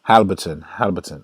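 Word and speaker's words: Haliburton: I was watching the game and the guy said Halberton. I guess the I is silent.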